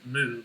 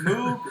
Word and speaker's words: Moog: anyway, A bunch of people in chat are saying Moog, and I don't know what that means. Can you explain? Moog or Moog, I guess, is the that's the official pronunciation of the guy's last name.